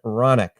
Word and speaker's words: Hronec: uh here with Fabian ronic now his name is actually HR o n c so every time I look at it I'm thinking ironic but the H is silent and once again he's